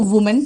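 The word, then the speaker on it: women: महिला, एक महिला है तो वुमेन, क्या बोलते हैं, वुमेन। महिलाएं तो विमेन। देखो यहां पर WO है, प्रोनाउंसिएशन वो आ रहा है, यहां पर भी WO है लेकिन प्रोनाउंसिएशन V आ रहा है।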